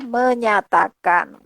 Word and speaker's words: menjatakan: berkait dengan ya ini tulisannya menjatakan tetapi membacanya ah menyatakan Kenapa karena itu ditulis tahun 1945 ejaan lama kemudian ada ejaan baru menjadi menyatakan Solo ejaan lama ejaan